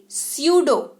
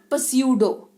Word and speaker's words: pseudo: 10th number spelling rule, अगर कोई शब्द पी से शुरू हो रहा हो और उसके तुरंत बाद एस आए तो भी पी का उच्चारण नहीं करते, जैसे कि स्यूडो, PSEUDO, स्यूडो, नॉट पस्यूडो।